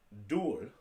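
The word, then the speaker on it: 둘: Dul, looks like dull, but it's actually pronounced dual, like the word dual.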